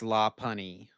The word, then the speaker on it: Lopunny: It's Lopunny.